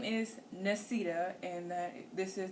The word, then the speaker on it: Nesita: unique thing about that so my name is nesita and that this is nanye my name is spelled n-e-s-i-t-a mine is spelled n-o-n-y-e-a now um